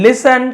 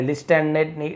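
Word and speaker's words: listen: तो संत शांत रहे एंड लिसन क्वाइटली लिसन यानी सुने तो यहां पर भी टी साइलेंट है लिस्ट नहीं लिस्टन नहीं पढ़ना है लिसन काम एल साइलेंट होता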